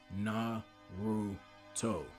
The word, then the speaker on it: Naruto: This student's name was 3 syllables, Naruto.